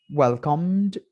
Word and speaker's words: welcomed: Welcomed, la E no se pronuncia.